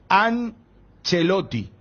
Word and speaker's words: Ancelotti: Bueno, modo radio, cuando es modo televisión, sí se tiene que respetar a rajatabla el tema de la pronunciación italiana. Porque es Ancelotti.